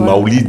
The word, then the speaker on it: Maouloud: J'espère que c'est bien prononcé. Oui, la fête du Maouloud. Il y en a qui disent Maoulid. Dans tous les cas, c'est la fête du Maouloud. Voilà.